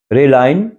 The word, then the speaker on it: RALEN: جو گروپ کا نام ہے، اس کے گروپ کا نام ہے RALEN، ریلائن. ہم ریلائن بولتے ہیں، آپ پتہ نہیں ذرا ہمارا جرمن میں ڈیالیکٹ ذرا چینج ہے.